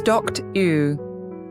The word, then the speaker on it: doctor: Doctor is doct-u.